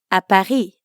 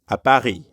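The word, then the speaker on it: à Paris: Paris you'd simply add a Paris at the end foreign notice how the S at the end of Paris is silent again bahi Baki jabit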